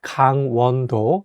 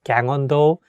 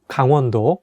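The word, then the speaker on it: 강원도: name of this province make sure to say kang wando not like gang ondo i can see some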